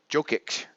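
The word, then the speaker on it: Jokić: there Center I believe it joke to jokic I believe is how you pronounce his name it's the second year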